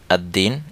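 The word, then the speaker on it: الدين: মিলিয়ে পড়তে হবে যেমন আদ্দিন এ জায়গায় লাম উচ্চারণ হচ্ছে না আত্তাজিরু এ জায়গায় লাম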